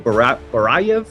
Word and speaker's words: Barayev: This is Barayev.